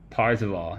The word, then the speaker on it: Parzival: Parzival. Yeah, I know, I keep saying that real bad.